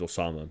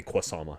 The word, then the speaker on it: Osama: My name's Osama. Everyone calls me freaking. I had one supply teacher call me Kwasama. He thought the O was a Q.